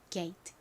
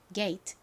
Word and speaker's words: gate: n a 소리가 나죠 다음 티는 티 소리 트 소리가 나고이는 떨어지 소리가 나지 않아요 그래서이 단어 읽어 보면가 됩니다 gate 자 발음 따라해 보세요 gate 게이 좋습니다이 게이트의 의미는